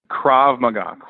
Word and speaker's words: Krav Maga: Krav Maga.